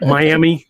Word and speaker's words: Miami: weird yeah they do like miami it's m-i-a-m-i not in oklahoma that's miami yeah miami and i have